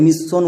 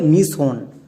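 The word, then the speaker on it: mission: কিন্তু আমরা এই ওয়ার্ডটিকে মিস সন উচ্চারণ করি না। আমরা এরকমই উচ্চারণ করে আসছি। তাই আমাদের রিডিং পড়তে গিয়ে অনেক অনেক ভুল হচ্ছে। কিন্তু আমরা এরকম রিডিং পড়বো না। এখানে আমাদের সিক্রেট টিপস ইউজ করতে হবে। এর উচ্চারণটা হবে মিসন।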